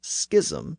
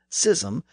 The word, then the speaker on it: schism: that the word should be pronounced Schism instead of sism based on the original Greek and Latin pronunciations in other words it should mirror the pronunciation of words like school and scheme today both pronunciations exist